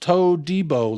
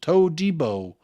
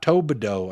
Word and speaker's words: Todibo: It's pronounced Todibo, like Debo Samuels. Todibo, not Tobido.